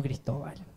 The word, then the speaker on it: Cristóbal: Ah, yo me llamo Cristóbal. Ah, acento en la O, no te olvides. Si lo vas a escribir, acento en la O, ¿vale?